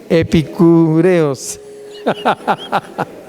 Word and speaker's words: epicúreos: si ok lo acepto que epic epicúreos epicúreos ya está epicúreos aleluya sea curioso y curioso porque tiene acento en la e sí es curioso que